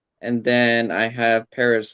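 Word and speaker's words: Pérez: Perez. Perez is the correct way to say it.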